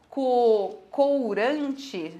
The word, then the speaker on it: courante: Apesar de estar escrito courante, se pronuncia Courant.